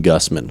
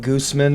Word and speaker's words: Gusman: like that's totally understandable I'm Gusman like that is there are a million ways to mispronounce that or there I think a lot of people go straight for like Gooseman or something they people go French they like go